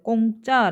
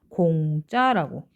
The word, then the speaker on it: 공짜: 옆 이렇게 해가 되요 꽁짜 라고 기억 이라고 하면 안 된다고요 공짜라고 그리고 기 거기라고 이렇게 받을